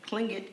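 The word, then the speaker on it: Tlingit: he was a clean clingit indian pronouncing proudly with the clinking of his tongue as if saying clink looked he was built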